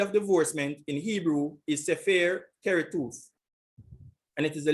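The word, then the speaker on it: ספר: So H5612 is sefer. This is the pronunciation.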